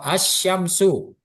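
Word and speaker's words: الشمس: Kalau qamariah tadi al dibaca, nanti kalau huruf syamsiyah al-nya tidak dibaca. Ini tidak dibaca. Kemudian lanjut membacanya ditasdidkan di huruf setelah al. Contoh asyamsu. Heeh.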